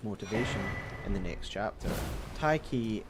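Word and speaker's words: Tyche: in the next chapter taiki is a letter swap spelling of an ancient Greek word that represents the Greek deity of Fortune which is why I'm pronouncing it that way by the way and I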